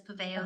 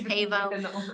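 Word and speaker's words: Pavão: Well, actually, my family, one group of family says Paveo, the other group of family says Pavo. My dad goes with the Portuguese, which is Pavao, so yeah, nobody knows how to say it.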